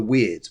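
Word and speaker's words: wyrd: they lived away called the way of the weird but it's spelt w-y-r-d it wasn't spelled w-e-i-r-d not like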